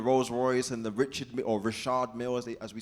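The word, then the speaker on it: Richard Mille: Lamborghini and the Rolls-Royce and the Richard or Rashad Mill as we say it right and all the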